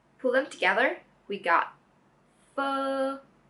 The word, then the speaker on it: Phở: vowel, f, f, and adding the tone is f. F, f. Very good. I hope now you can all pronounce f correctly.